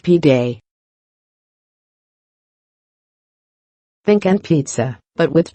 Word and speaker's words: pide: But instead of pizza, people are lining up for its Turkish cousin, an oblong flatbread called Pide, pronounced Pide.